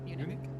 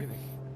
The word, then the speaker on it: Munich: What's the English pronunciation? こらあたりですよ。 Munich? Yeah. Munich.